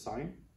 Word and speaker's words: sin: stands for sine looks like syn but we pronounce it as sine c stands for cos or cosine but you'll